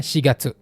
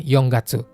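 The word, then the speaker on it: 四月: Jadinya shigatsu, bukan yonggatsu. Itu juga hati-hati.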